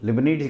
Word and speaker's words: Leibnitz: आपका integral calculus का लिबनिट्ज rule. लिबनिट्ज, LIBNITZ, है ना। लिबनिट्ज हम लोग लेबनिट्ज कह देते हैं शॉर्ट में। तो आप प्रोनाउंस कुछ भी करिए, कुल मिला के रूल्स का ध्यान रखिए।